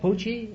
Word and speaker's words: Pucci: Pucci? That's right, sir. Is that the way you pronounce it? That's right.